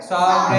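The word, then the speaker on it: sovereign: पहले वर्ड में BENIGN, जहां पर जी याद रखिएगा जब भी एन से पहले जी आएगा तो मोस्टली जी नहीं पढ़ा जाता, आप जी को साइलेंट कर देंगे।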